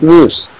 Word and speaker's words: SNP: Scientists have identified about 1.4 million locations where single base DNA difference SNP, single nucleotide polymorphism, pronounced as NIPS, occurs in humans.